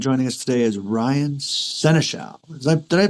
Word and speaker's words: Senechal: But not only that, from Vancouver Island, joining us today is Ryan Senechal. Did I pronounce that right, Ryan?